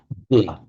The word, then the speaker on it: bala: Bala, with a short two short bala, and bala. These are two entirely separate words.